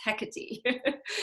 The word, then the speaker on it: Hecate: you hear people talk notice that we tend to always emphasize the second syllable of things and so in greek it's not like that so she's hakkate or hecate or see i'm doing it it's hecate not hakate it's hecate so hecate we don't know